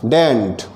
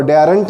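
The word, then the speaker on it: daren't: एंड डेयर नॉट हो गया डेंट, इसको डेयरेंट नहीं पढ़ना है, डेंट इसका प्रोनाउंसिएशन होगा डे अंट, डेंट।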